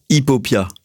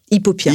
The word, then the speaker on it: Hiphopia: Hipopia. Hipopia. Hipopia. En fait pourtant ça s'écrit PH. Ouais. Ouais. Ouais. Mais c'est hip hop, tu vois.